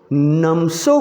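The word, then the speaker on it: Namtso: उसके बाद है नमसो कोरा, इसमें टी साइलेंट है।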